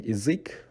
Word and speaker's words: язык: But in язык, which is language in Russian, because the stress sound is on ui, so ya de-stresses and becomes i.